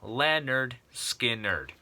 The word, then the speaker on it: Lynyrd Skynyrd: from Leonard skinnard and the album is called pronounce Leonard skinnard um right off the bat Tuesday's Gone give